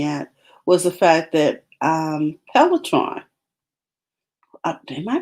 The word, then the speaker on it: Peloton: Oh yeah, it's Peloton. Peloton.